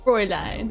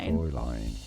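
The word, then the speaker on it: Fräulein: Now the German pronunciation is as fine. Fine line. Fre line. It looks like it should be said fine or frying fine. Fre line as well.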